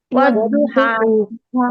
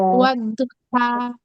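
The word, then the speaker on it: والضحى: সবাই বলেন তো উচ্চারণটা কি হবে? ওয়াদ্দুহা, ওয়াদ্দুহা, এখানে খানা জবর একটা আলিফ পড়ে।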